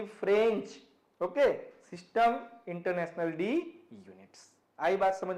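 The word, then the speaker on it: Système international d'unités: इट इज़ a French phrase and इट is pronounced like सिस्टम इंटरनेशनल डी यूनिट्स।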